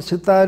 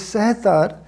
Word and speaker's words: sitar: The actual pronunciation for sitar is sehtar, means three strings instrument.